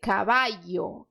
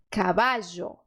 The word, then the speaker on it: caballo: Tem 4 opções para você pronunciar esse dígrafo. Primeira opção, I. Você vai dizer caballo, caballo. Segunda opção, J. Caballo, caballo. Terceira opção, DJ. Caballo, caballo. Quarta opção é caballo, caballo.